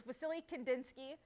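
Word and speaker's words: Wassily Kandinsky: it's filled with w sometimes you'll see it with a v it's really just based on the pronunciation of it but it's vasily kandinsky he was a painter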